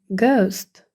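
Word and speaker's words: ghost: лише одну Ґ а H не читатиметься тому гелст запишемо гауст привид або гетто теж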